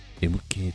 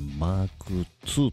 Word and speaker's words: MK2: 過去の僕が MK2 と言ってますが、これはマーク 2 と読むらしいです。